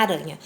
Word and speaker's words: aranha: Mas acontece que quando eu pronuncio a palavra aranha, eu falo um R bem tremido.